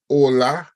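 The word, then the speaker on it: hola: that H is in Spanish that the H is silent so you do not have to aspirate the age so remember it's ola on all and so on no h sound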